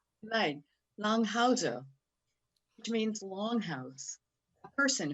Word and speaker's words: Langhauser: And I want you to welcome everyone, Andrea, and I'll say this in German, Langhausen, nein, Langhauser, which means longhouse, a person who lives in a longhouse, actually, and Bridget Lawrence-Meigs.